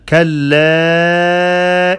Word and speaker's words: كلا: there is mad for harakat because the alif of mad followed by hamza. Kalla in. You prolong the alif 4 seconds for harakat.